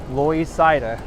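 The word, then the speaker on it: Loisaida: is avenue c it's co named loy cida avenue and uh this is how the puerto ricans used to pronounce it louis cider so they called it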